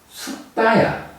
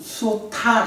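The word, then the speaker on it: sutta: 경이라는 거는 빨리어로 숫다야. 요거를 우리가 그냥 영어식으로 읽으면 수타 이렇게 될 텐데 이게 그 국제적인 발음 부호에 의해서 그 표시를 하는 거예요.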